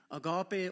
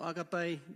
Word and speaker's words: agape: And then there's a fourth type of love, which is agape or agape, different pronunciations.